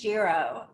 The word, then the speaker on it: Giro: Do you pronounce it Giro, or Euro? And this is like also the name of like GYRO, the Greek sandwich, which people never know how to pronounce either. This is Giro, but as somebody said